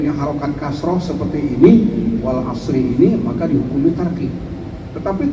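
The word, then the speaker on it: العصر: Tetapi dengan mustahaknya artinya seperti ini, seperti kata wal asri ini dalam kategori mustahak. Hak dan mustahaknya harus dipenuhi ya sehingga dibacanya dengan ra itu harus disukun dan ro itu harus ditabkhim. Wal asr.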